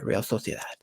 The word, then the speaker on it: Real Sociedad: And you guys, I got to say it like a Spanish guy, Real Sociedad. Oh, no, actually, no. Real Sociedad as if it was with a Z. It's like Santi Cazorla.